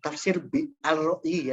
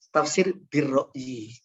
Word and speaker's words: Tafsir Bi Ar-Ra'yi: Jangan lagi tafsir al-ro'i ya. Tafsir bir-ro'i.